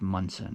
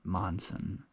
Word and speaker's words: Monson: o n s o but I think it's pronounced mson not Monson and uh there's a hostel called Shaws there